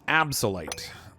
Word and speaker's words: Abyssalite: It's pronounced absolite.